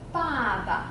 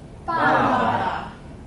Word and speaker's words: 爸爸: Okay, and the bottom part, when it stand alone, it means, it's pronounced as ba, so it suggests sound. Suggests sound, suggests meaning, okay? Baba, can you read of me? Baba.